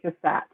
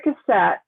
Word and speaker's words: Cassatt: I've heard it pronounced the other way. All right. Well, we'll go with Cassatt.